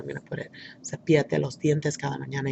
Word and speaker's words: cepíllate: I can hear the accent right there in the I, so that's where I'm going to put it. Cepíllate los dientes cada mañana y cada noche.